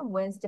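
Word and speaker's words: Wednesday: আমরা প্রোনাউন্সিয়েশন কি করছি? ওয়েন্সডে, বাট বানান দেখো কেমন হয়ে গিয়েছে, ওয়েড নেস ডে। তিনটা ভাগ করা যাচ্ছিল, কিন্তু আমাদের উচ্চারণে মাধুর্যতার জন্য বা actually we don't know Y they pronounce like that, কোন একটা কারণে তাদের ডি এর প্রোনাউন্সিয়েশনটা বাদ দিয়ে দিয়েছে।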